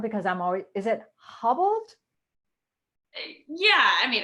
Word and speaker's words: Haubold: No, it's more of a ha. So It's Haubold. more of a ha. Okay. Yeah, So it's not like it's not like you hobbled someone's knees. yeah, like the U is silent.